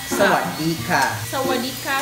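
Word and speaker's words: สวัสดีค่ะ: Pag babae, ka. Sawadika. So, pag babae, that's how you pronounce Sawadika.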